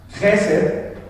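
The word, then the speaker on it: חסד: Vean, dice el hebreo Gesed, está medio difícil de pronunciar, pero sí se pronuncia como Gesed, y significa amor, benevolencia, misericordia y voluntad.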